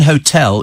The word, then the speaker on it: hotel: of a historical an hotel is an Hotel because hotel is a French word so the H is silent and shouldn't be pronounced says Julia you're going